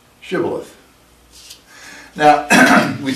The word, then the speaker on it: Shibboleth: say to him then say shabbat Shibboleth Shibboleth and he would say Sybil ahthe or he could not pronounce it right then they would take